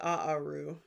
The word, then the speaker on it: Aaru: the it's called the aaru which is the word for reads. So the field of ruds is the second aaru. Aaru a a r u technically is like sort of how you pronounce it.